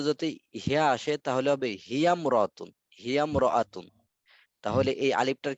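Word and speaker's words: هي امرأةٌ: তাহলে ইমরাআতুন আলিফটি শুধু লেখায় আসে, উচ্চারণে আসে না।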